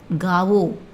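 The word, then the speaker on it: गाओ: song அப்படின்னா Keith பாடு காவோ காவோ கான்னு pronounce பண்ணனும் கா கிடையாது ஓகேவா கேள் சுன் சுனோ சுன்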